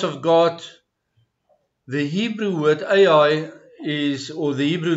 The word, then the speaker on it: Ai: The Hebrew word Ai is, or the Hebrew name of the town is spelled with a silent hay up front, meaning the, but it's silent.